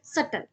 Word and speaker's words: subtle: Guys, इसमें बी जो है वो साइलेंट होता है, तो हम क्या बोलेंगे, सटल, meaning hard to notice और सी.